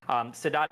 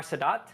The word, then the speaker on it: Sadat: And this started with Sadat in Egypt.